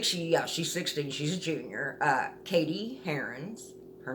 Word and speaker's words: Cady: Katie Herons, her name is spelled Cady, who has lived in Africa with